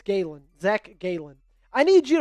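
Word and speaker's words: Gallen: Uh both a's are pronounced the same. Zach Galen wouldn't. Maybe it's Gayen.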